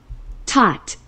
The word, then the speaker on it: taught: Taught. Taught. Taught. Taught. Taught. 너 옛날에 A랩에 B랩에 파닉스 할 때 AU가 O 된다고 가르쳐줬어요. GH는 소리가 안 나거나 또는 F하고 똑같은 F 소리가 된다든지 여기선 소리가 안 났고요.